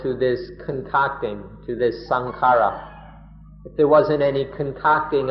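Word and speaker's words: saṅkhāra: For example, in Thailand, most often sankhara just means the body. Thai people speak of sankhara or sangkhan in the Thai pronunciation.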